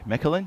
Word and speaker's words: Mechelen: Is it Mechelen? How do you say where we are? Mechelen, yes.